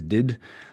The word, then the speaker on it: DDIDD: I pronounce that as did.